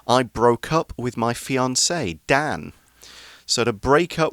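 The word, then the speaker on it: fiancé: see in our article we've got that french accent over the e which gives it the pronunciation fiance if it's a girl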